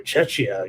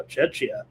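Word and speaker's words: Czechia: Uh here we're underway with the Czech Republic and or I'm sorry, Chetchia. You got to say it right now. Cetchia and Korea here underway.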